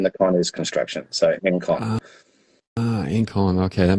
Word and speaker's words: Engcon: angstrom um so the G is is not pronounced but so the N NG is forstrom and then the con is construction so in con ah in con okay that makes sense yeah